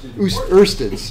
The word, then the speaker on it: oersted: Oersted. Yeah, I always want to say it. It's like, no, it's Oersted's.